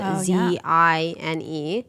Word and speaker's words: zine: Yeah, and also a lot of people probably have no idea what a zine is, which is spelled Z-I-N-E. Yes, like magazine, but Correct. for short, zine.